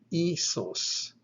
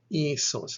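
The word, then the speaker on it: ἴσος: This word would be pronounced isos, isos.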